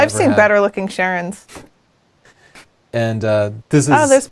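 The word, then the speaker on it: Charon: This is, and Siobhan says it's pronounced Sharon, so I'm trusting her.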